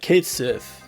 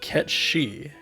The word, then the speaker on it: Cait Sith: this game is that Kate Sith is supposed to be pronounced cat she and his gelic I recommend watching this